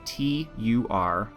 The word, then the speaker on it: Turisas: That's spelled Turisas.